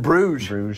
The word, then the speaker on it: Bruges: In Bruges.